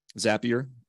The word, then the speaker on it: Zapier: uh the zapier website zapier see remember it rhymes with happier um and I'm going